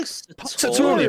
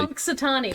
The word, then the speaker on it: Punxsutawney: Oh yeah, I have no idea how you're meant to pronounce that. Punxsutawney. What? Punxsutawney, apparently. Punxsutawney.